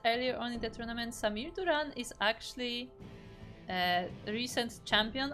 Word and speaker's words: Samir Duran: it is the purple Zerg player it is Samir Duran and yes I intentionally Pro pronounce it with a hard R because that's